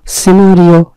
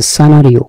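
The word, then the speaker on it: scenario: মানে হচ্ছে বলির পাঠা, সিনারিও নাকি সানারিও, সানারিও, উচ্চারণটা সানারিও, এর অর্থ হচ্ছে দৃশ্য, দৃশ্যাবলী, আর সিন শব্দের অর্থ কি?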